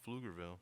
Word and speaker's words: Pflugerville: what's so laughable about flugerville there town is spelled with a silent p oh so it's lugerville